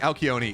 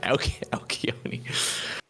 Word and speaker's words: Alcyone: I mean, to my understanding, like Alcyone is the Greek pronunciation. Alcyone.